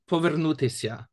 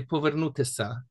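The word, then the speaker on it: повернутися: So for example, like the word povernutisya, which at the end has that sya sound, in Polisia they would say povernutisa.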